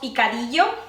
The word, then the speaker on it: picadillo: Mexican style that's called picadillo it have the double Ellen in Spanish the Double L is pronounced kind of like a Y so it has a